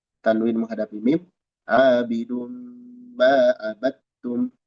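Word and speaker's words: عبدتم: Abidun ma abattum. Abattum dal idgham ke ta. Jadi bacanya dari ba langsung ke ta. Abattum. Dal hilang sama sekali.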